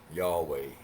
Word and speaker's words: Yahweh: I always warned y'all about that name, Yahweh. 2 syllables.